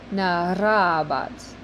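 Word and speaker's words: narrabat: And try to roll your R with that. I know it's difficult, but just try. Narabat.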